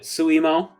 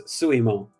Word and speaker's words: Suimo: I tend to pronounce it Suimo. Oh, Suimo? Yes, it's Suimo.